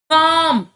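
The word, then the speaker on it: calm: காம், காம் தான் சொல்றீங்க, எல் வந்து சைலண்ட். டாக், டிஏகே தான் நம்ம வந்து ப்ரொனவுன்ஸ் பண்றோம், எல் வந்து இங்க சைலண்ட் ஆயிருது சரிங்களா.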